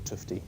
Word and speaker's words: Tufte: crack describes TFT critiques you will also hear tuft's name pronounced as tuy or tufty I think it's toughed might be well uh